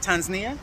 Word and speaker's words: Tanzania: it that way because there's a couple of ways to say it tanzania yeah that's the way the locals say it so i'm trying